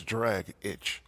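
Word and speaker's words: Dragić: lot I agree oh I always thought it was tragic at draaga CH like drog itch what it says dr agic that's drag itch yeah or dragic as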